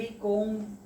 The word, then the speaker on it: comb: अंग्रेजी की तरह हम COMB कोम बोलकर लिखते हैं, लेकिन COM बोल के ही पढ़ते हैं, बी साइलेंट।